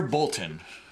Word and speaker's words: Boltyn: How do you say his name? It's Sire Boltyn.